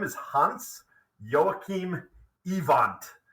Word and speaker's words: Iwand: name is Hans Joachim evant i-w-a-n-d so kind of looks like I wand or iwand um but but he would have pronounced it evant uh as a a good German boy uh so let's just